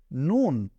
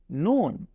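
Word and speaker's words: نون: নুক্তা দিয়ে দেই তাহলে এইটার নাম হয়ে যাবে নুন তাহলে প্রথমে আমরা পড়লাম মিম এরপরে এটাকে পড়ছি নুন আমরা আবারো পড়ছি মিম এরপরে নুন মিম নুন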